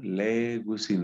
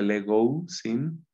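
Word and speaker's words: λέγουσιν: Legusin, no se pronuncia legousin, sino legusin, legusin. Entonces, legei es dice.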